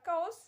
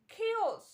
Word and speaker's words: chaos: right pronunciation knowledge knowledge next one is chaos or cows something like that but right pronunciation is chaos chaos next one is law